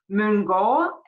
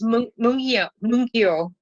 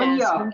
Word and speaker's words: Mungyo: set of darks with Mungo. Am I pronouncing that Yes. correct? It's Mungyo. Munyo. Okay, Yes, Munyo. Mungyo.